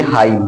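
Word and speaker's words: hymn: इसी तरह से एच वाई यम यन है तो यन साइलेंट होगा, चूंकि यम के बाद यन आता है तो यन साइलेंट हो जाता है, इसको हम बोलेंगे हाइम।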